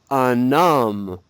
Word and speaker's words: un homme: Now, if UN is followed by a masculine noun that starts with a vowel, we need to pronounce the N. So I'll give you an example. Répète, un homme.